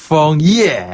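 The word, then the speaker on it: 枫叶: 그쵸, 근데 발음 너무 좋았는데 한번 해보실래요? 펑예.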